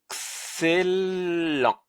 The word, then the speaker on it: excellent: Donc le C c'est plus ce n'est plus ce mais celle. Donc excellent. Excellent. Voilà, il nous reste quand même le T à la fin. Aïe aïe aïe aïe aïe aïe aïe. Donc comme il est à la fin, qu'est-ce qu'on va faire ? On va pas le prononcer.